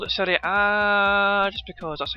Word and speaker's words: Serie A: I've just called it Serie A just because that's how you pronounce it, you know what I mean?